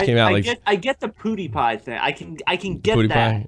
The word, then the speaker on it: PewDiePie: If you're talking about PewDiePie, please say his name right. We went over this before. Pood rhymes with Jew. Die rhymes with T. Pie rhymes with D rhymes with T.